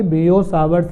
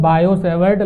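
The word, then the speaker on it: Biot–Savart: पर अगली हेडिंग आपकी बियो सावर्स ला इसको बेटा ये बियो सावर्स पढ़ते हैं जनरली तो हम लोग बायो सेवर्ड ला ऐसे पढ़ते हैं लेकिन यह बियो सावर्स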